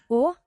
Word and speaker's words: og: Å. Or, but that's like or. Å. Or, so you're not really pronouncing the G.